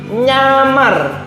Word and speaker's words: nyamar: Ini adalah nyamar. Nyamar, bukan ngamar loh ya. Nyamar, menyamar. Tahu toh? Nah, ini karena Y yang titiknya 3.